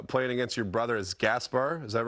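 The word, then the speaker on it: Gašper: as well uh playing against your brother as Gaspar is that right is that how you say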